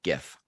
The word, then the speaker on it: GIF: the acronym gif gif gif with a hard g gif yes not a gif like like the peanut butter no cause that's with the j okay all right next